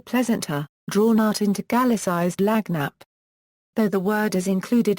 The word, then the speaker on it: lagniappe: They pronounce it lagniappe.